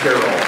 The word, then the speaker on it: Tyrol: Everyone's favorite former chief on board the Battlestar Galactica, Specialist Galen Tyrol, Aaron Doubles. Pronounced Tyrol.